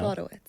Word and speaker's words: Slodowitz: Slodowitz. Slodowitz. Not witch. Man. A lot of wits. Wits Yeah. instead of Wits. wits. No witch. All right. No I witch am, here.